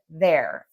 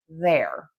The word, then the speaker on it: they're: You can pronounce all of these words exactly the same way as they're.